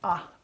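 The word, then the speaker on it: 啊: This character is pronounced ah, ah, ah.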